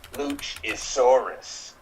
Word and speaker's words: Luchasaurus: his name is cool luchasaurus rhymes with dinosaurus because i'll smash you